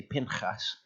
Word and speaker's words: Pinchas: I've only just about got to the point where it kind of flows a bit more naturally to say Pinchas, but it actually turns out to be Pinchas when I read the Hebrew.